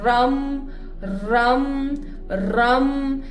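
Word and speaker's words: रं: Pronunciation सही ये है, रम रम रम।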